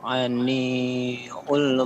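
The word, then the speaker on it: عن: Fasda bima tu'maru wa a'riz anil Anil. Jadi itu bukan u ya. Jadi itu sukun. Jadi bacanya adil.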